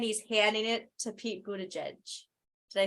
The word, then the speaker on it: Buttigieg: He's closing it and he's handing it to Pete Buttigieg.